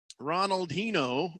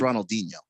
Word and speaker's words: Ronaldinho: guy is it's pronounced ronaldinho and music there's an age there soccer player yeah but his name is portuguese you know it's he's